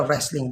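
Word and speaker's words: wrestling: रेसलिंग में भी इस तरह, डब्ल्यू आर से पहले तो हमने बोल दिया रेसलिंग, डब्ल्यू को साइलेंट कर दिया।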